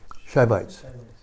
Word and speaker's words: Shivites: Subites? Savites? Shivites.